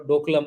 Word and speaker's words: Doklam: It is only now, after Dolam or Doklam, I always call it as Dolam because the name is Dolam.